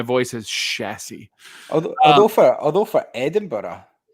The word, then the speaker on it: Edinburgh: It doesn't piss me off that much, but outside of Scotland, even in England, Edinburgh. It's not. It's Edinburgh. Like, you must have boroughs in America. Borough. So it's Edinburgh, but everyone calls it Edinburgh, and it's like, it's not how you say it.